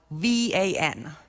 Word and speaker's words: Van: However, it's spelled V-A-N, but in Turkey they call it Van.